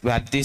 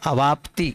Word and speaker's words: अवाप्ति: गो चरवा पुकार परिहार व्याप्ति स्थिति लक्षण परिणाम नार्थ क प इसमें आप सभी एक शब्द गलत उच्चारण कर रहे हैं परिहार अवाप्ति व्याप्ति नहीं है वहां अवाप्ति अवाप्ति व्याप्ति